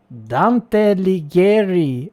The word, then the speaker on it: Dante Alighieri: Dante Alighieri, ladies and gents, that's how you pronounce in Italy.